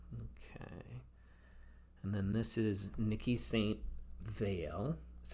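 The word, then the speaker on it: Niki de Saint Phalle: And then this is Nikki St. Veil is how you pronounce it.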